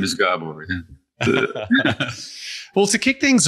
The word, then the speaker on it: Gabor: And I'll be even more greater pleasure if you pronounce my name right. It's Gabor. Gabor.